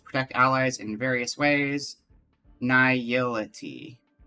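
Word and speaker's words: Nihility: Niility. Niility. Yeah, that's that sounds right because it's nihilism. So, niility. I just was having a hard time putting the syllables together.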